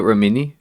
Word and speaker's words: Remini: Are you familiar with Leah Remini?